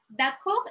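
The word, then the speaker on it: d'accord: have the dot co we don't pronounce the last letter i don't know why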